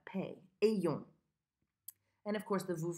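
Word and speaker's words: ayons: This one is pronounced E-yong. Just the way it's written, really. But a lot of times I hear people who want to say I-yong. It's E-yong.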